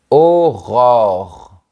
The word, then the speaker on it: Aurore: On prononce bien le son. Aurore.